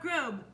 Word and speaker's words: Grobe: made by me, Grobe. That's right, rhymes with lobe, like earlobe.